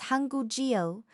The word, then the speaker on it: 한국어: So, Hanguk-eo becomes Hangug-eo.